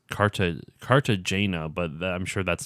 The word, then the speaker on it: Cartagena: know if I'm saying or it's car to Cartagena but I'm sure that's not how you actually pronounce that that's like the American version ray